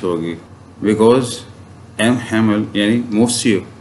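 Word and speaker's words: Monsieur: तो इसमें आपने ना तो एन को प्रोनाउंस करना है और ना ही लास्ट जो आर है उसको, तो ये बनेगा मोसियो, राइट?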